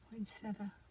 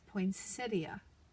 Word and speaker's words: poinsettia: I'm GNA use this poinsetta poinsettia poinsetta how do you say it I say poinsetta but here in Georgia Georgia seems like everybody says poia I'm going to slide